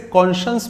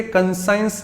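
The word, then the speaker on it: conscious: In terms of pronunciation इसे कॉन्शियस पढ़ा जाता है। आई रिपीट, कॉन्शियस, इसे कंसाइंस ना पढ़ें प्लीज।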